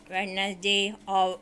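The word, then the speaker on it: Wednesday: वेडनेसडे, over, knife, com, sign. वेडनेसडे में D, over में H, knife में के, कॉम में बी, साइन में जी. साइलेंट है.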